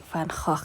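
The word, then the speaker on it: Van Gogh: Houten ikan dari Belanda dibacanya bukan vangohh ya tapi farkhah karena dalam bahasa Belanda huruf g Itu dibacanya seperti kita membaca huruf holol ini aku jarang pakai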